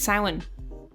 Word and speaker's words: Samhain: just try just google it how do you pronounce samhain it's samhain yeah uh if you could give someone you